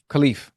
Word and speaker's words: Khelif: Algerian boxer Imane Khelif. Is that how you say her name, Ash? Yeah, Khelif.